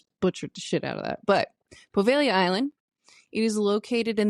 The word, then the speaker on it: Poveglia: the unexpected assistance with pronunciation because I just butchered the out of that but poia Island it is located in the vene Lagoon